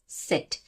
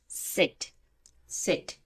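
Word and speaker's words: Z: বা কিছুটা টাচ আসে সেট সেট সেট এখানে যেমন আমরা আমাদের মুখ খুলে উচ্চারণ করছি সেট আর এখানে আমরা দুই পাটির দাঁত লাগিয়ে উচ্চারণ করব সেট সেট ঠিক আছে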